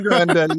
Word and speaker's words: Ariana Grande: anything about Ariana Grande. Is that how you say her name? Or is it just Grande? Ariana Grande, yes.